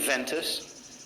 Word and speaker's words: ventus: in the Middle Ages, it started taking on the V sound. But just to avoid confusion, I'll just pronounce it as a V. So ven and ventus.